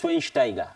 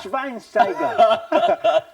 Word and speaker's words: Schweinsteiger: It's Schweinsteiger. No, there's no W in German. That's how it's pronounced. There's no W That's in how it's German. pronounced. It's Schweinsteiger. Schweinsteiger. Schweinsteiger.